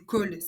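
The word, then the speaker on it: khôl: Ça s'appelle du col. Le col ça ça s'écrit K H O L.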